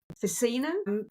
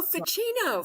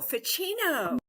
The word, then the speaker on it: Ficino: about um I'm not quite sure if I'm pronouncing this right but the priest and Scholar F the word facino a chat called facino who was a priest in the oh ficino ficino yes yes marcelio fucino yes and he did exactly what you're doing